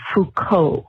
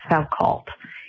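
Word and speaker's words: Foucault: that title would be Fuko, not Falcult. It's a French name is a philosopher.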